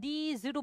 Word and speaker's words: these: 이거의 복수형은 these로 발음돼요. these. s가 두 가지 사운드가 있거든요. z가 있어. 그죠?